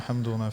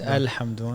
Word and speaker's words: El-Hamdoon: Is it Dr. El-Hamdoon or Hamdoon? It's El-Hamdoon. El-Hamdoon, mashallah. Spelt with an E.